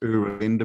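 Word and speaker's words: Oera Linda: so there's a book called The it's actually pronounced Ur Linda book o e r a Linda book and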